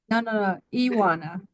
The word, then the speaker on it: Ioana: it's no no no Iana Yana Yana it's like it's like Johanna but it's without the age and yes you spell